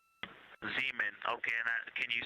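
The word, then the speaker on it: Zeeman: We believe that's Zean Crater. Oh, I floated away from the speaker. Say it again, please. We believe that that is Zean Crater. Zemen.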